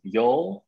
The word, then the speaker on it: Yeol: uh you know uh rob mentioned the uo yo in southern english actually that's my first name how you pronounce my first name so i use that